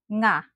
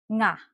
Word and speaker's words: nga: To produce the nang sound, try to do this. Push your tongue back and up, making sure the back part of your tongue is curled and almost touches the molar and the roof of your mouth to produce a nasal sound.